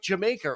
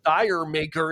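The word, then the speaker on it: D'yer Mak'er: um a song like Jamaica or or dire maker if you're reading it out phonetically but um to to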